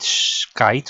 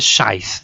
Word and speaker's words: scythe: chest with my great skite or ski how do you say it in English ski or skite scy a scythe that's the correct pronunciation I was looting the